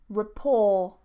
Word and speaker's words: rapport: And this, rapport, rapport, rapport. I don't pronounce the T.